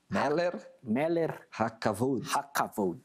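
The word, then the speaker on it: מלך הכבוד: Fala a pronúncia certa aí, é Meler Hakavod.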